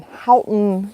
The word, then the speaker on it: Houghton: We are in Houghton, Michigan.